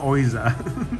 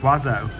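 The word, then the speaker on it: Oizo: It's called Wazzo, not Oizer. Mr. Oizer. That's what it says. Yeah, but it's pronounced Wazzo.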